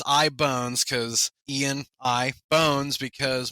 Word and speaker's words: Ibonez: models which is uh a lot of people have said oh ianz or something like that like the the musical instrument company but it's ibone bones cuzz Ian I bones